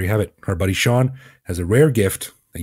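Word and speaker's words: Sion: Now, his parents might have spelled that funny, but trust us, it's pronounced Sean. Yeah, S-I-O-N.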